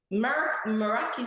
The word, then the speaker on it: Meraki: it's originate it's a it's a Greek name and it's pronounced Meraki sorry that's what they